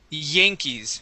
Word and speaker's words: Yankees: So the a sound right after what? Right after the Y makes a long a sound. It is yay. Yang. Yankees.